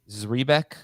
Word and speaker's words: Zrebiec: I believe it's Zrebiec, okay, of The Athletic, thinks the Ravens will manage the early season workloads for Dobbins and Edwards.